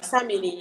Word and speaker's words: Samini: That's how you pronounce it, right? Yeah, Samini, yeah.